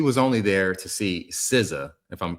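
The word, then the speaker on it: SZA: It's Sizza. He was right. But I'm like how don't you know? Just keep going. Okay. Yeah. He said singing said he was only at the concert to see Siza perform and he reaffirmed his loyalty to the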